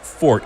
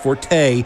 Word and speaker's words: forte: and yes it's pronounced fort it's not pronounced Forte because there's no accent over the e and Forte is a